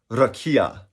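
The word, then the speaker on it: רקיע: language it stems from a hebrew word that is pronounced rakia and some of the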